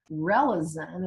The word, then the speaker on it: Relizen: So a great example is a remedy called Relizin. It's spelled Relizen.